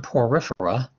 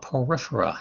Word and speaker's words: Porifera: The first one, Porifera, you know a word that sounds similar to that, porous. So it's called Porifera.